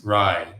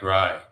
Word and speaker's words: Ry: My name uh rhyme with Kai. My name is Ry. Sounds like Ry.